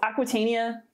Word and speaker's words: Aquitania: So Aquitania, like Eleanor of Aquitaine, pretty simple.